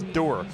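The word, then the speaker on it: Ndour: your last name is door the n is silent in the discussion no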